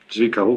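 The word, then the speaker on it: Zwickau: Z W I C K A U. Comment tu prononces ça ? Zviko.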